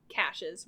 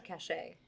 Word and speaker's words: caches: Knew the location of these hidden caches were either killed, imprisoned, or executed. Is it cash or cachet? Caches. I think it's cash.